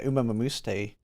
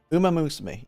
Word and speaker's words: Uma Musume: Yeah, I think I'm just using the A from Uma on the Mu part.